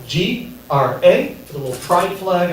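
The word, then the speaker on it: Grá: Yeah, technically in Irish Gaelic, my name is pronounced Gra. I choose to pronounce it Gray because Gra sounds stupid.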